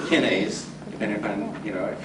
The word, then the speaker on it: kinase: And kinase, or kinase, depending upon, you know, if you mispronounce it like I do, it's kinase, but kinase is K-I-N-A-S-E.